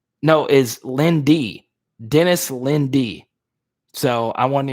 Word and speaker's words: Linde: correctly, it says Dennis Lind. No, is Lindy. Dennis Lindy. So I wasn't even honoring this guy correctly. Dennis Lindy, according to Wikipedia. Lindy. It's spelled Linde, but it is Lindy.